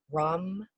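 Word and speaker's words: ram: the the mantra is rum it's r-a-m but it's kind of pronounced like rum so yes i know not rum rum but we're gonna go with that um and we're gonna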